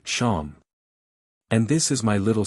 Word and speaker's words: Seam: The name Seam, pronounced Sham, and this is my little seep.